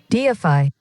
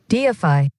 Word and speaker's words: deify: উচ্চারণটা deify, ডিএফআই, deify, ডিএফআই।